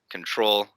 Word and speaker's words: Ctrl: the normal version uh it's spelled ctrl control by sizza uh very